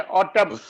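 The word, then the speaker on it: autumn: ऐसे ये सर एम एन आ गया तो एम गया एन रह गया, ऑटम, एन गया एम रह गया, आठम, कालम।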